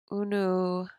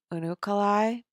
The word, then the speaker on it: Unukalhai: Unukalhai. Unukalai, I think it's pronounced.